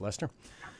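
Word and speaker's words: Leicester: called the Codex Lester which is spelled Lester Shire but the English pronounce it Lester and it's something and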